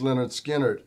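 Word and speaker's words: Lynyrd Skynyrd: start with this one leonard skinner pronounced leonard skinner free bo free bird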